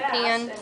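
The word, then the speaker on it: pean: calls this a uh pan a pan I think because it's spelled p e a n she says a like a pen but it's Weir a pan and you're like and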